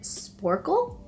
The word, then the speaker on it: Sporcle: and the other one I'm pretty sure you pronounce it sporcle you can actually filter it to be pretty